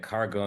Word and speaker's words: Kargo: announcement people look at cargo and they're like oh it rhymes with Argo yes they are very